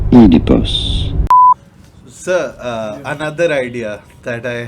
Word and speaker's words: Oedipus: You do want to stress on the first syllable. Oedipus.